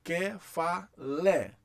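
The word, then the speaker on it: κεφαλή: Então, ainda que essa vogal seja naturalmente longa, o acento abre ela. Então eu vou ler que-fa-lé.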